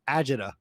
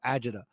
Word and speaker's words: agita: between the passion and i'm going to teach everyone an italian word here um agita um and for those who don't know that i wouldn't spell that a-g-i-t-e-a so agita um and you gotta say it with the hands too but basically it the